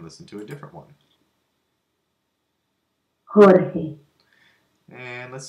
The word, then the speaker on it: Jorge: over here from the left, and there's 6 pronunciations of it. Let's listen to the primary one. Jorge. Jorge.